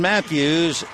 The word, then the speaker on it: Matthews: the ninth inning Ryan Matthews spells it with a u but it's still pronounced Matthews he's from Elk Grove